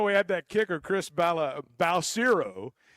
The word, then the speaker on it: Balcero: And it's just Well, and you know, we had that kicker, Chris Balcero. Houston called him Balisario for like four or 5 years.